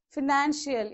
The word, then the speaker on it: financial: Okay, financial, even IAL, the same rule follows. Second syllable from the end of the word.